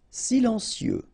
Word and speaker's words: silencieux: Silencieux. Final X not pronounced, okay? This part here will be pronounced like cieux, okay? Then you get silencieux.